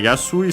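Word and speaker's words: やすい: adding it to Okay yasui seems to be accented according to the physical dictionary always on on the it's accented so on the su kai yasui for example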